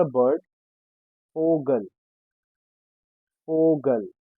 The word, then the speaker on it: Vogel: Vogel.